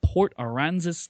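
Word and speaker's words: Port Aransas: Rich wrote the song over a weekend in Port Aranzis, Texas. I'm not sure if I'm pronouncing that right.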